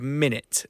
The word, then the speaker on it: Minit: It's a game called Minit. It actually came out last year. It's spelled MINIT, so Minute spelled IT.